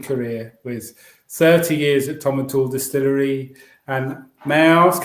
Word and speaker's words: Tomintoul: And I'll have to pick you up in your pronunciation again, Arthur. I know, okay. Tomintoul. I was going to hang a towel in the corner of the room. Tomintoul, yeah, please.